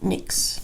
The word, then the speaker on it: NYX: can believe this whole time I've been saying and why X and YX and then I'll say NYX NYX and it's just - NYX Cosmetics barely found out it's pronounced mix not NYX anyways so this is their rainstorm